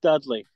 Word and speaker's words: Dudley: Bubba Ray and Deon dley testify it's it's pronounced Dudley yeah you say tomato I say tomato that's